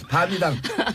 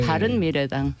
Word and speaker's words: 바른미래당: 밤이당. 발음 잘하세요. 밤이당 돼요 잘못하면. 아니 뭐 글자도 몇 개 안 되는데 풀로 불러주세요. 예. 바른미래당.